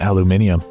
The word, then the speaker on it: aluminium: for that metal but in the UK they call it aluminium but it's not just